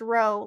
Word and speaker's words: rho: like a p uh it's spelt r h o and it's pronounced row like row versus column and the beautiful thing